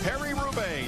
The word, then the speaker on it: Paris-Roubaix: The world's best cyclists combat the cobblestones of Paris-Roubaix, a demanding one-day trek.